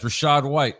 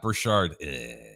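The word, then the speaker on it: Rachaad: Berger says Rashad White, not Brashard.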